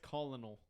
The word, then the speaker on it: colonel: it that way it's it says colonal colonal yeah there's not even an R right there's no R there's no Colonel there's no